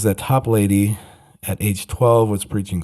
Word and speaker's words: Toplady: It's 2 words, top and lady, Toplady.